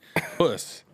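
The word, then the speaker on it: puss caterpillar: It's a pus caterpillar. Puss. I said, now we know.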